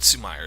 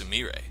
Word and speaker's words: Sumire: Okay, so it's not Sumire, it's Sumire. I will be pronouncing that correctly from now on, guys.